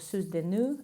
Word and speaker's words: Soeurs de Nuit: the brand is called Soeurs de Nuit, or Soeurs de Nuit, that would be the correct pronunciation.